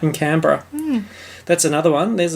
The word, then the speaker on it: Canberra: Cottage you're right in Canberra hmm that's another one there's another Australian pronunciation for you our capital siembra is Canberra yeah Canberra yeah Americans say cannon Berra and Barry and Berra